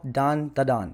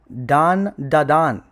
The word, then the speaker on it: Dan Da Dan: It's called Dan Da Dan. It's spelled Dan. And it pisses me off that motherfuckers cannot pronounce it. Motherfucker, sound it out. Jesus fucking Christ. Are you 7? Dan Da Dan.